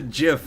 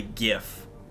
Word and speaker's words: GIF: I don't say GIF. I say GIF with a hard G.